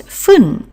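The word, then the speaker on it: 分: use quarter past so we have to go back to the pronunciation which we used with five minutes and that was fun.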